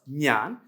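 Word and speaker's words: ഞാൻ: Nan Manu okay so Nyan means of course the pronoun I we pronounce as Nan uh so regarding pronouns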